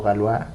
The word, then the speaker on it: Galois: Así que eso, Galois o Galois, como se pronuncia en francés, eh, es un, es un GOAT de la álgebra.